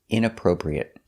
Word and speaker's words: inappropriate: Our next word is inappropriate. Inappropriate stress is on the inappropriate the first and third syllable.